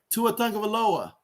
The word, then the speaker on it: Tua Tagovailoa: Tua Tagovailoa.